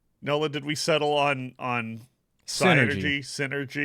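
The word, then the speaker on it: Psynergy: I think the P is silent.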